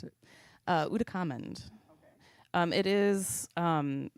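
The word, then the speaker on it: Ootacamund: How do you even pronounce it? Uh, Udakamand.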